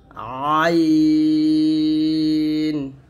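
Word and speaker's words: عين: হলো 50 সিন সিনটা জিহ্বাটা নিচে তাতে লাগে উচ্চারণ করবেন আর সিন এর গাণিতিক মান হচ্ছে 60 তারপর হচ্ছে আইন আইনটা চাপ দিয়ে বলতে হবে আইন এরকম ভাবে তো আইন এর গাণিতিক মান হলো 70 আইন তারপর হচ্ছে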